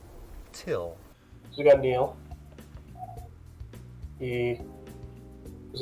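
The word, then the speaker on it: Thgil: it t h g e i l puts pronounced like till who is this guy so what's your name light fit my name is till it's spelled what g-i-l but it's pronounced till we got neal he was a heroin addict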